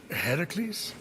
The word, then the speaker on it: Heracles: That thing with your voice? Heracles? Yeah, that! That is how it's supposed to be pronounced.